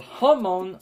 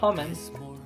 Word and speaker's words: Hamon: I always pronounce it Homon. Like trying to say the name Hammond. Just take out the N, the B, and the extra N, and you get Hamon.